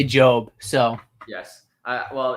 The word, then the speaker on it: Job: of job which is is it job or job i never knew joe i mean us americans say job so yes well it's